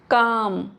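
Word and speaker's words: calm: Word के last में एल एम है तो साइलेंट होता है एल फॉर एग्जांपल पाम काम एल नहीं पढ़ेंगे साम साम नेक्स्ट रूल है एन is silent after M एट द एंड of some word.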